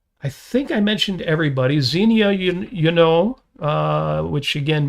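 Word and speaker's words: Xenia: Zenia, you know, uh, which again may be pronounced Ianu.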